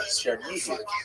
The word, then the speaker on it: Chernihiv: And there's another, Isaac of Chernihiv, sometimes recorded as Isaac of or Yitzchak of Chernigov. That would be Russian pronunciation of the same place.